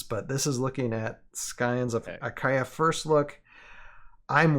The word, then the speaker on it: Scions: last week was the Scions, and you know, okay, this is one housekeeping thing. I know last Wednesday or last time I kept on saying Scions instead of Scions. The C is silent.